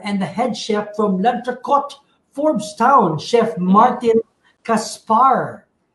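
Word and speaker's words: L'Entrecôte: And so we know that, am I pronouncing it right? Lantracot? That's correct. Yeah, very good.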